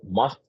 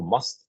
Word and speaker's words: mast: to the supplements so must the word must which means one who is intoxicated with Divine love is pronounced to rhyme with the English word trust so must Trust my aim has